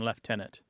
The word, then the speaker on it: lieutenant: for this particular word the more traditional British pronunciation left tenant yes uh my unit